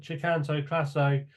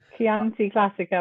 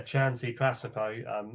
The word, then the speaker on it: Chianti Classico: Katie, I thought Chicanto Classo, if I've pronounced his name correctly, butchered that one again. Chianti Classico, I think. Yeah, Chanty Classico.